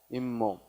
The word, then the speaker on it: 잇몸: 자, 이와 몸이 만났는데 발음이 이 몸이 아니라 뭐야? 잇몸.